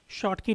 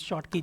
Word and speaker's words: Schottky: So this is pronounced as, some people pronounce it as Schottky or something like that. It is, if you were to look at the pronunciation, it looks like this, Schottky. Okay. So the pronunciation of this is Schottky, not Schottky or whatever you want to, some may call it.